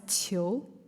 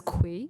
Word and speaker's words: Qiu: I've heard a lot of my friends who are Americans who thought it would pronounce as Kui, which is very normal because the queen, like, it starts with Q, so I totally understand. But it's Qiu.